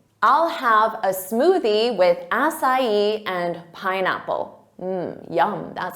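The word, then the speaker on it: açaí: So they'll say Acai or Acai, but that's not it. It's acai.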